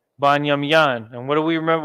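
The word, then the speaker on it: בנימין: We are still using the ancient pronunciation, the ancient dialect, so to speak. Okay, we're not pronouncing it the way the Yiddish people do it. Again, we're not even using vowels when we say it. We're just saying the word as it originated.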